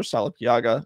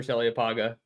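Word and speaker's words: Saliapaga: the 2024 class with Roger Salapiaga, or remind me how to pronounce that name. I'm sorry, I butchered it. Roger Salliapaga. Salliapaga, thank you.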